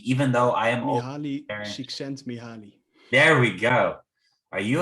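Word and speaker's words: Mihály Csíkszentmihályi: Mihaly, I cannot pronounce his last name, even though I am Mihaly Csikszentmihalyi.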